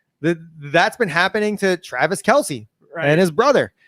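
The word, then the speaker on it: Kelce: been happening to travis kelsey and his brother you do not pronounce his last name kelsey right it's just kels kels kels which makes sense phonetically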